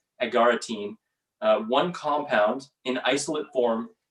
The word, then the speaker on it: agaritine: in mushrooms and art is called argatine or not pronounced right but agaritine one compound in isolate